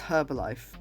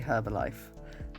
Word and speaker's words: Herbalife: would pronounce that as herbalife and it does interest me that in some but not all american accents the h in herb is dropped but not only is